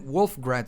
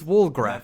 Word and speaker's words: Walgrath: I've heard this name Wolfgrad somewhere, but it's Walgrath. Walgraph. I need to put that in my head. I always mispronounc this name.